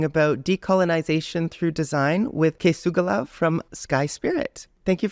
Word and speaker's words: K̓esugwilakw: to be talking about decolonization through design with kugala from Sky spirit thank you for joining me today h uham uh you pronounced my name amazingly uh my my name